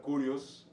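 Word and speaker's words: κύριος: Para ello nos estamos refiriendo a la palabra kurios, así si lo leo literal, ¿verdad? Kurios, porque el griego tiene una pronunciación especial como curio, curie, curios, no de curioso en inglés, ¿verdad?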